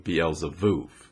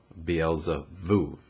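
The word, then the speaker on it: בעל זבוב: from the original Hebrew, Beelzevuv. In this, the Hebrew letter Beit stands for the number 2 and is repeated 3 times. And keep in mind that Beit can be pronounced B or V, Beelzevuv.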